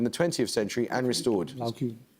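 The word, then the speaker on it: Laocoön: Laocoon. Laocoon. Yes, usually pronounced "Lao-oh-coh-on".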